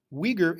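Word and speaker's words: Uyghur: yeah don't even bother Weger is spelled UI gh you are give me your version how would you spell it phonetically they are a minority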